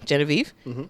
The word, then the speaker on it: Genevieve: is understood you know my name is pronounced the way it's pronounced right Genevieve but it's also the French pronunciation right and there's people